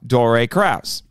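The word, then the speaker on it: Dore Kraus: his name properly I'm glad to say so Dory Krauss Dory Krauss for those who don't know actually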